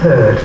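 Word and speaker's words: heard: Beware of herd, a dreadful word that looks like beard and sounds like bird.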